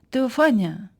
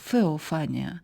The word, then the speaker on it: Теофанія: Теофанія. Так, це слово вимовляється за Еразмом Ротердамським, який одним з перших спробував реконструювати фонетику давньогрецької мови. Це слово може також звучати як феофанія, за версією іншого вченого